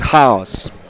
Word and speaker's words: XAOC: Uh um It's pronounced house. House, because it's it's written in Cyrillic. So, it's like chaos in English, but the pronunciation is a house.